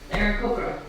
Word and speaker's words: Aarakocra: Aarakocra. And she pronounces it correctly.